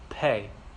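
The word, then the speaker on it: פ: in there is and there's a little dot in the pay so it makes it pressurize like pay but then when you take the dot out and makes it more like a fait makes a softer faith okay there's no plug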